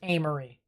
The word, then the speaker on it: Amory: tupelo and the amory apparently that's how it's pronounced amory in mississippi am i doing today